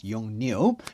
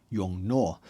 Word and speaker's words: YongNuo: And they told me, yeah, it should be exactly the same as the Chinese Mandarin because how they write